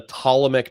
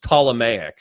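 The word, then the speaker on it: Ptolemaic: offspring and I think I said like the Tmic dynasty and then what what what's his face the stick from last night said oh it's pronounced Tomic and I was like oh well I'll you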